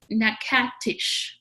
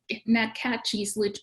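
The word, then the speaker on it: Natchitoches: for the part for i learned how to say this and if someone's from louisiana on this call uh forgive me but it's uh nak at nakatish louisiana um and uh right here nakachi's louisiana um so magadish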